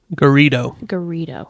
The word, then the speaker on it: Garrido: Garrido.